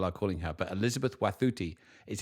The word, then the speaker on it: Wathuti: And first thing I would say is her name is Elizabeth Wathuti, not Elizabeth Wathuti, which many people are calling her, but Elizabeth Wathuti is how you pronounce it.